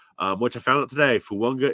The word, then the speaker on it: Fuonga: For example, Fuonga, which I found out today, Fuonga is the correct way to pronounce it. I guess Samoan names, that N is implied with the G.